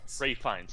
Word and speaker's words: Ralph Fiennes: And Ralph Fiennes, I always mispronounce his last name, unfortunately. Ray Fiennes, okay, yeah.